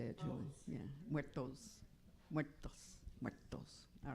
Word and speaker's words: muertos: Muertos.